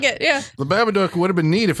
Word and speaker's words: Babadook: About our episode, the Babadook. Babadook. Babadook. Duck rhymes with book.